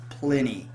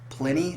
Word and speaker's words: Plini: So I'm just going to take a stab at it and say his name is Plini. Plini, like plenty, but Plini.